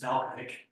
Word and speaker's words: Valachovic: It's spelled Valachovic, but it's pronounced Valkovic. Valachovic. Okay. Just ignore the second A.